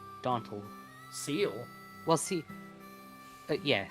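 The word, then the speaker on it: cele: Seal. Well, see, yeah, seal.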